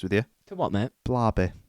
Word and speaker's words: Barbie: you for what mate Barby is that what I said you said Bary Bary so you said it wrong Big Bang fairy yeah